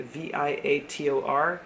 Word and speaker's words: Viator: I think that's how you say it, Viator.